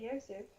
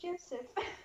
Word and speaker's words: Josef: Oh wait, you pronounced it Josef. Yeah. I Yeah. thought it was Joseph.